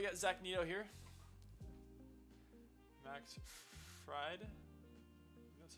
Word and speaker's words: Fried: Max Fried, that's how to pronounce his name, is going to be pitching today.